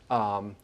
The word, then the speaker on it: tefillin: has left us, some pictures and the absolute tefillin, is that the right way it's pronounced? Yep, okay, tefillin.